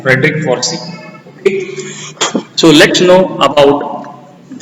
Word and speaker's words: Forsyth: Frederick Forsey. SYTH is silent. Frederick Forsey.